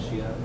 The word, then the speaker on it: Xia: I think Shia. Shia, S-H-I-A.